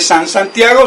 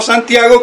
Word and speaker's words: Santiago: lleva incorporado el sant no se dice sanz santiago sino santiago que es san jacobo sanz jacob santiago entonces que fue eran